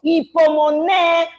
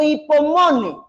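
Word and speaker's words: ὑπομονή: pero sí sé que en griego se traduce o se escribe o se pronuncia como hipomoné o hipomone.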